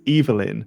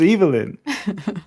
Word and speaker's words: Evelyn: Evelyn or Evelyn and her name is is canonically is Eivelyn but it's spelled Evelyn.